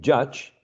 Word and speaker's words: judge: because the second um the e at the end it don't have some sounds all right exactly it doesn't have a sound it's silent that's right let's uh cross it out it's a silent letter exactly so when we say judge we have how many vowel sounds and just one just one right exactly just one okay so judge has one vowel sound therefore it's a one syllable word and when we say